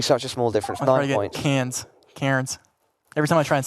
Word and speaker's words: Cairns: a small difference cans Cairns every time I try and say that enough really well c-a-i-r-n-s like oh it's actually pronounced cans anyways in an Australian accent I wouldn't even dare